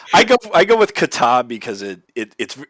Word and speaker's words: kata: i should actually look that up too uh it's spelled k-a-t-a and it's pronounced kata but this is spelled